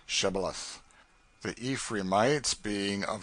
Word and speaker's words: shibboleth: who could not say shibboleth the ephraim might being of a different tribe could not frame to pronounce the word right but called it sybileth which proved them enemies